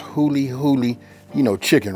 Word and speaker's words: huli huli: say it like this this right here is pronounced hully hully you know chicken right you got to go